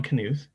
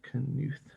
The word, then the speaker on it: Knuth: um so these ideas were developed by don knuth back in uh what the 70s maybe 60s